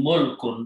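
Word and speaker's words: مُلْكٌ: For example, if you put Dhamma here and Sukun, Mulkun, that is a kingdom or land.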